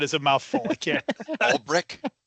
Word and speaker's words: Ulbrich: Ulbrich? Ulbrich.